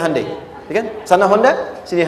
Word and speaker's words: Hyundai: bikin Honda sini Hai Hyundai kan dibacanya hundai ya kan sana Honda